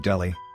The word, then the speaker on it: Delhi: certain glaring inconsistencies between Delhi pronounced Delhi by the way and the USA or